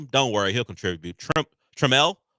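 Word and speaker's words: Trammell: Treml, I found out that's how you pronounce it. Not Traml.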